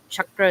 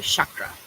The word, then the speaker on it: chakra: welcome to join and if you're not understanding chakra is how it's pronounced in Sanskrit and a lot of westerners will say chakra that's what we're talking about and it's got